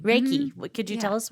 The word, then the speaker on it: Reiki: don't know is it my saying it right Reiki Reiki what could you tell us what Reiki is